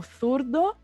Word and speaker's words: zurdo: e das Ilhas Canárias, os espanhóis pronunciam a letra Z e a letra C com a língua entre os dentes. Igual o inglês com TH, eles pronunciam, então, por exemplo, o zurdo, que é Z-U-R-D-O, começando